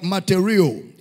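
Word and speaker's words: μαρτυρέω: Is a Greek word, matereo. And I can spell it for you.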